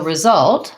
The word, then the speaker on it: result: Okay, so result, second syllable stress. The first vowel is an I sound, result. The letter S says Z, and then we have a schwa and a T. We may say it like result, result with a stopped T, or result with an aspirated T.